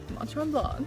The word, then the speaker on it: Mont Tremblant: Mont Tremblant. Mont Tremblant.